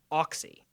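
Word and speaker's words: Auxy: So on my phone, there is an application called Oxy. It's spelled Ox, like aux cable with a Y.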